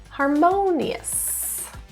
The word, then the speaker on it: harmonious: Stress is in the second syllable, harmonious.